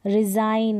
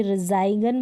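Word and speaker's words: resign: रिजाइन, अब इसको कभी रिजाइगन बोलते हैं, नहीं, रिजाइन।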